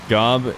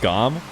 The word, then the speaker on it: Gomb: It's pronounced Gomb. Wait, you're saying I shouldn't say the B? I thought Gomb himself said that there was more B to it as opposed to a silent B.